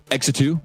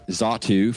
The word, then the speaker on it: Xatu: This could either be Chespin, far-fetched, because our answers are pretty far-fetched, Exetu, or Xatu, for those people who actually know how to pronounce Pokemon names, or Dartrix.